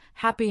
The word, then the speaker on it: happy: For example, happy has stress on the first syllable, hap py.